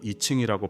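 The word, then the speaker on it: I Ching: 마이너 화이트는 50대에 들어서서는 중국 철학사상의 가장 근원이 되는 책으로 사서오경 중에서 필두인 역경과 영어로는 이칭이라고 발음합니다.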